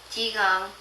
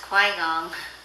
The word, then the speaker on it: Qigong: First of all, Qigong spelling Qigong, pronounced Qigong, not Qui-Gong.